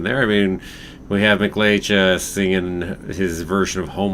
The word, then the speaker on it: McLeach: Sorry, not McLeay, McLeach. There we go. Pronounce it right.